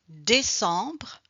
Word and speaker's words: décembre: So we don't pronounce the E, but if you want to be more comfortable with the pronunciation, you can start with this way to pronounce the E at the end and after just to remove this last letter.